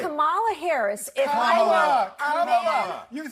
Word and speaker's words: Kamala: Let me actually pronounce her name right. Kamala Harris. Kamala.